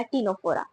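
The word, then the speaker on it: Ctenophora: नाम भी देखो ना, सेम सेम से, निडेरिया, टीनोफोरा, दोनों साथ साथ में स्टार्ट हो रहे हैं। एंड दोनों में सी आ रहा है, बट देखो दोनों में ही साइलेंट है, तो यहाँ पे भी एक कॉमन फीचर हो गया है ना।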